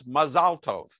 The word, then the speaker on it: Mazal Tov: And, you know, there's even differences on which syllable gets pronounced. So in Ashkenazi enunciation, it's Mazel Tov. In Sephardic pronunciation, it's Mazal Tov.